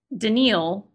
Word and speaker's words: Danielle: mode right and then we have denil which is spelled Danielle which except that's a